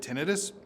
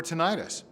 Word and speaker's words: tinnitus: it and of course how do you say it is it tenus or tenius I actually say it both ways so first let's start